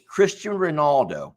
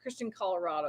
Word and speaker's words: Cristiano Ronaldo: I think his name is Cristiano Ronaldo, and they were saying his name wrong. They were saying like Christian Colorado or something like that.